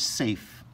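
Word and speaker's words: Saiph: So this is gonna be the star, and its name is Safe. Do you spell it like Safe? No, you spell it S-A-I-P-H, I believe.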